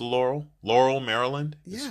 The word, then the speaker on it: Laurel: So anyway, if you're from the area, you know it's not Laurel. That's what I say. Laurel. Laurel. There's 2 syllables to Laurel.